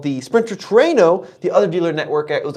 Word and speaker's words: Trueno: First of all, Toyota had me pronounce it Trueno, kind of like a little bit like Plano. I've heard it pronounced Trueno, but of course, if Toyota was there, What's the word mean?